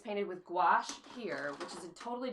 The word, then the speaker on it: gouache: talking about them um this is called gouache it rhymes with a squash and I had to